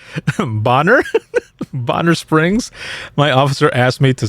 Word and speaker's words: Bonner Springs: said over the radio boner springs then it's pronounced bonner bonner springs my officer asked me